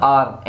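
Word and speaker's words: hour: जहाँ कहीं भी एच साइलेंट हो और उसके बाद अगर वावेल हो तो हम इसको उर्दू में लिखेंगे आर, एन आर, एन आर, 1 घंटा, 1 घंटा,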